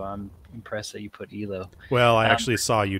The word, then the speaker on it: Yloh: But Yloh, okay.